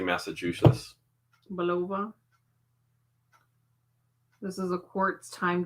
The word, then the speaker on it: Bulova: it right below but you can't say Massachusetts Bulova this is a quartz time date watch now